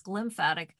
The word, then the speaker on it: glymphatic: was really intense yes it's the G before the lymphatic so it's glymphatic because of those how